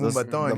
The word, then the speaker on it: Moombahton: the first time I heard Moombaton, is that how it's Yeah, pronounced? Moombahton.